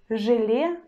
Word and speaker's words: желе: So for example, in the word желе, желе, желе, you see we've got vowel letter е, but we pronounce it as э. It's one sound pair э, but ж we still pronounce in a hard way.